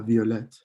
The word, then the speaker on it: violette: Le violet, la violette. So like with green, you add the E, but here you also add a T. So the double T gets pronounced.